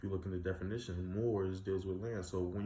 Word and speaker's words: Muur: Empire, known as the Moors. M-U-U-R. It's still Moor, but it's different pronunciation.